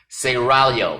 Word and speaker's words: Seraglio: Pronounce it Seraglio. I gotta roll the tongue, excuse me.